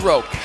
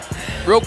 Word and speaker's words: Roque: His name's Roque. Roque, no joke.